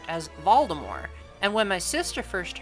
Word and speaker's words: Voldemort: McGonagall are referring to Voldemort as Voldemort. And when my sister first heard that, she said, why are they pronouncing his name different? I said, well, that's how J.K. Rowling pronounces it.